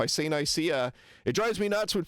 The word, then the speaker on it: Nicaea: Nicaea Um my understanding in Greek it's Nicaea with stress on the first syllable, but whatever.